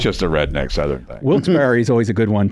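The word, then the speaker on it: Wilkes-Barre: a redneck southern thing wils Barry is always a good one to stump people so is wilberry or wils bar or people say it all way all different ways I say wilberry yeah I've heard it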